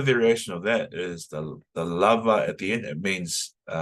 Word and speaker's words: lava: So lava, you can emphasize the last word, or you can emphasize the second to last.